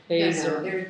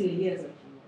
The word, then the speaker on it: Eliezer: But there's only one Rabbi No, Eliezer.